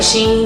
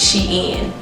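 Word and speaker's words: SHEIN: y'all know that website sheen do y'all pronounce that she and or she i always say sheen but my friends have been telling me is she in and i don't even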